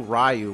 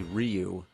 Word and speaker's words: Ryu: in Street Fighter we didn't know rayu was actually Ryu Blanca some people say